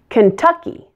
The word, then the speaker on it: Kentucky: as AZ Kansas Kansas Kentucky the middle syllable is stressed in this one Kentucky Kentucky Louisiana like Indiana